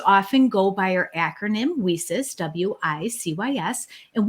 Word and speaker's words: WiCyS: go by our acronym wheesis w-i-c-y-s and we pronounce it we sis like we sisters because that's exactly what